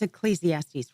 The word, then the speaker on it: Ecclesiastes: I was reading, I don't know how to pronounce it, you know better than me, Ecclesiastical?